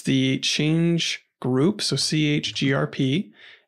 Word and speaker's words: chgrp: the change group so chgrep is how you spell that command and then you just